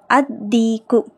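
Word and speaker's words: الديك: next அதிக்கு அதிக்கு லாம் உச்சரிக்கப்படக்கூடாது ஏன்னா தாங்கற தால்ங்கிறது ஷம்சியாவுடைய எழுத்து அதீக்கு அந்த சேவல் த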